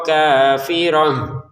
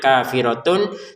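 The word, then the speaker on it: كافرة: Wa ukhro kafir huruf tan-nya tulisannya kafiratun tapi kita bacanya kafirah. Kenapa? Karena kita berhenti. Kalau dilanjutkan dia menjadi huruf ta lagi.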